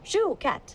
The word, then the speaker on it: Chouquette: Shoe like you wear on your foot? Shoe. Chouquette.